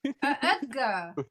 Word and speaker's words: Oetker: Why do you pronounce that as a G? I don't know. That's how it's pronounced. Edgar.